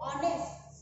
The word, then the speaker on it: honest: As I told you before that here stay, if it is H but it is silent, here comes the sound of O, that is O, honest.